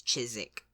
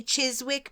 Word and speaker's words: Chiswick: Chiswick I would say but it's chisik chisik yeah she in Southwest London it's so it's you know I would say Chiswick but that feels really wrong because it feels Chiswick it feels very like uncomfortable to have to make that s sound and Then followed by a w yeah Chiswick Chiswick yeah